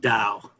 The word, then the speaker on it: Tao: So it's pronounced Dow. Dow.